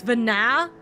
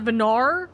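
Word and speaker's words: Venat: So, it's Vana, not Venar. It's it sounds like it's R, not ah.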